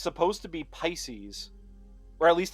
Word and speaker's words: Pisces: He named him Pisces. Rhymes with feces, but it's supposed to be Pisces, or at least how I would pronounce it is Pisces, which is a constellation, you know, the fish.